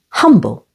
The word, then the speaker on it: humble: an a sound and humble with the stress on the first s able humble and giraffe here the